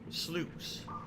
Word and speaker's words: sluice: So you guys are saying it's pronounced like juice. Sluice.